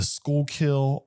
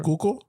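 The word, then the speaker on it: Schuylkill: Um there's the skullkill, all this other Yeah.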